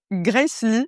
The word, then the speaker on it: Grace Ly: H alors RTBF a écrit à ton sujet dans son podcast kiffe ta race coanimé avec Grace Lee ça se prononce comme ça ?